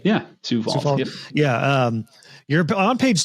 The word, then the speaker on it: Sioux Falls: Sioux Falls.